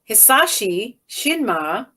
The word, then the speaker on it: Hisashi Shinma: Hisashi Shinma is a Japanese booker and promoter and is